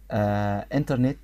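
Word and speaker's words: internet: انترنت، هنلاقي الأمريكان بيقولوها انترنت، انترنت مش بينطقوا التي خالص، انترنت ما تستغربش منها.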